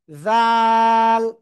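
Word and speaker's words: ذ: অক্ষরটা, এই অক্ষরটা কি, জাল। জিহ্বার আগা উপরে দুই দাঁতের আগায় লাগাবো, লাগিয়ে আমরা 3 আলিফ টানিয়ে উচ্চারণ করব, জাল।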